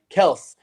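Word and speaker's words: Kelce: taryn says remember y'all travis kelsey's name is pronounced kels the chiefs made an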